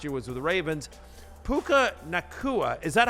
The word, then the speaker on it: Puka Nacua: Puka Nacua, is that how I say his name, Connor?